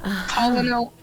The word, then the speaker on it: Colonel: Oh, yeah, because Colonel does not sound how it's spelt at all. I Looks know. like things are getting pretty Colin.